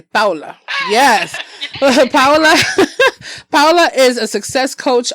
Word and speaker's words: Paola: And you know what I want to say about Paula on here. Pa, let's let's pronounce it correctly. Pa. Yes. Paola Paola is a success coach, author, and professional